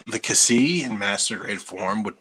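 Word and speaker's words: Ksi: it's it's k s i so i i pronounce it cassie i used to pronounce it zai um and then i don't know when i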